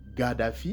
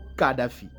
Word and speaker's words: Gaddafi: est une langue sémite, le K et le G se confondent. Donc vous avez Muammar Gaddafi, il y a d'autres qui disent Gaddafi, il y a d'autres qui prononcent Muammar Kadhafi.